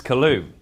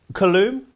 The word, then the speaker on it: Coulombe: Good afternoon, Charles Coulombe. Coulombe?